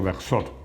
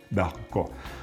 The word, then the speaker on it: Bercot: Bercot, que he dicho Bersot, bueno, es que mi pronunciación en francés, yo creo que es como me ha sugerido Rodrigo, Bercot.